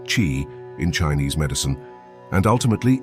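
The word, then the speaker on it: qi: the body improve energy flow often called Kei pronounced chi in Chinese medicine and ultimately ease conditions like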